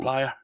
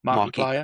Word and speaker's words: Markiplier: The video game was picked up by someone, I forget his name, who Markiplier. Mark Player. How would you pronounce that? Like Marky Mark. Oh yeah, Plier, as in the pliers. Markiplier.